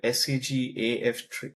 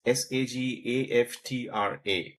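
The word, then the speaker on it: SAG-AFTRA: Uh, Basically, there's an organization called SAGAF pardon my mispronunciation of it. It's SAGAFTRA. It is a mouthful acronym, but it basically represents the Artists Guild of America.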